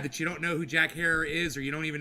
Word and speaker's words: Jack Herer: know how to say the guy's name it's Jack Herer and the reason I know how to say